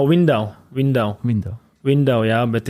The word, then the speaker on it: Windau: In Germany, it's Lindau. No, Windau.